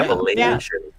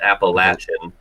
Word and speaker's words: Appalachian: Appalachian, emphasis on Asian, not Appalachian.